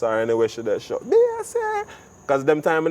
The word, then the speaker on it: Bay C: it like a different, because I used to spell it B-A-S-S-Y, and when I signed the autograph, girl, I said, "What that? What that? " So I said, all right, B-A-Y-C, Basie.